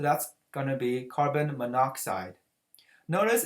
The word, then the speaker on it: monoxide: So that's going to be carbon monoxide. Notice it's not carbon monoxide. When your prefix has two syllables for oxygen, the last letter will be dropped out.